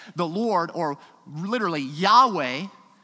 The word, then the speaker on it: Yahweh: What is likely pronounced Yahweh, yet we're completely unsure, but that's not the point.